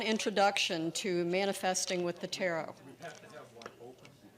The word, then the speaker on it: tarot: The T on the end is silent. It's not tarot. It's tarot because it's French.